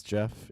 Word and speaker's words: Jeff: My name is Jeff. It rhymes with breath.